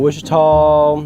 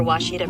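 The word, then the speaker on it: Ouachita: Oh, Wichita. Achita. Oh, Wachita. Is it pronounced Oakita? Searching for Washita Baptist University. Back in Texas, everybody pronounces it Wichita, but really, it's Washita.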